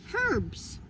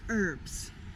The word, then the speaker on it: herbs: the h silent well in american english which we are speaking right now we say herbs this the h is silent but in british english you can say you say herbs so the answer to